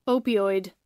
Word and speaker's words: opioid: ko na nacurious ako Ano ano Ong pag pronounciation nito opioid opioid opioid opioid itong opioid opioid opioid yan ang pronunciation niya opioid Ayan Ano to Ano